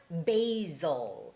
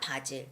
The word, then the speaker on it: basil: And the word basil. It's not 바질, because in Korean, we read it as 바질. Hello, Jason. Welcome to the show. 바질, no, it's basil.